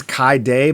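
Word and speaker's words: Khigh Dhiegh: I'm going to say it's Kai Day, but okay.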